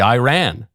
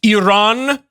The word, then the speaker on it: Iran: You say Iran. Don't you know the country is pronounced Iran? Iran.